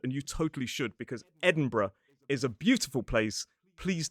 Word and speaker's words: Edinburgh: So, it's or some speakers just reduce it down to one syllable br. So for example, in a modern British RP accent, it could be Edinburgh or Edinburgh, Peterbr.